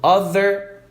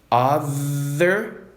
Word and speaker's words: other: Other, brother, mother. TH vibrado vai ter som de Z. Vamos fazer um exercício de pronúncia aqui? Os 3 últimos, que é o mais fácil na minha opinião. Other, brother, mother.